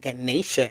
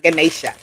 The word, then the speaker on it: Ganesha: She said, tell me, I just heard she say it's not Ganesha, it's Ganesha.